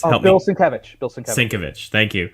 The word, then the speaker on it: Sienkiewicz: Yes, I guess that I got, we're able to pronounce. How do you say it again? Bill Sienkiewicz. Oh, Bill Sienkiewicz. Bill Sienkiewicz. Sienkiewicz. Thank you. Sienkiewicz.